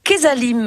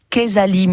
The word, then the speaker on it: Quezalim: Et ce matin, on découvre Kesalim, une plateforme 100% limousine, 100% locale.